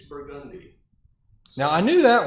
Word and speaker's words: Burgundy: And it's not Burgundy, it's Burgundy.